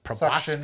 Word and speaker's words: proboscis: I'm going to proboscis.